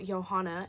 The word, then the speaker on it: Johanna: My name is Johanna. Okay. I'm German. So Johanna is spelled J O H A N A like Joanna, but it's pronounced the European way, which is Johanna.